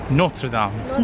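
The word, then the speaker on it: Notre-Dame: We are on our way to just get like a glimpse of Notre Dame. I said it that way. How do you say it? Notre Dame. Dame.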